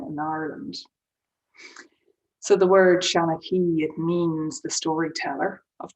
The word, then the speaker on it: Seanachaí: in the chat shalaki so shan s-e-a-n is means old um and then shanaki that's a father the accent on the i makes it go e at the end and there are different